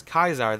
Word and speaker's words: Caesar: the ncr he's actually one of the few characters to pronounce caesar as kaisar that doesn't have a